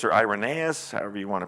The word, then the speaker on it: Irenaeus: then let me get to another page oh irenaeus or irenaeus however you want to pronounce that is can be pronounced both ways